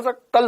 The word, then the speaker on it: सकल: देखो तो स और श में भी अंतर नहीं पता। हाँ, शकल खराब है तेरी, शकल। शकल खराब नहीं होती है। ये घंघोर बायोलॉजी वाले हैं सबके सब। देखो इनने याद ही कर लिया, स और श को गोली मारो, सकल होता है।